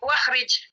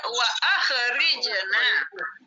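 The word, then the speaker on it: وأخرجنا: Kalau di sini ada wa, boleh nggak dibaca wakhrij? Tidak. Tidak boleh, harus dibaca wa akhrijna. Wa akhrijna, hamzahnya harus dibaca.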